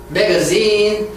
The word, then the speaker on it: magazine: magazine, 뒤를 강하게 있어요.